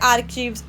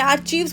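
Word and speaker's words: archives: सो उनको बोलते हैं आर्किव्स। कोई सुना होगा आपने आर्चव्स बोल देता है। आर्चिव्स नहीं आर्कीव्स होता है। वह सी जो है सीए जो है साइलेंट होता है।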